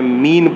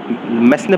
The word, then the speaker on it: mesne: अब इसको आप मेसने प्रॉफिट मत बोलना, हालांकि इसकी स्पेलिंग जो है MESNE ही है। अगर आपको स्पेलिंग याद करनी है तो मेसने बोल दो, लेकिन अगर किसी के सामने बोलोगे तो आप मीन प्रॉफिट ही आपको बोलना है।